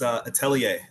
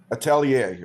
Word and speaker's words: Atelier: Tell me the pronunciation. It's Atelier. Atelier.